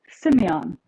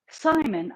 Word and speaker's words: Simon: So I'm not saying it wrong. Simon. Oh, it's just Simon.